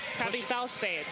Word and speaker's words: Krabby Fellspade: Krabby Fellspade. Yeah. The K is silent at the end, I learned.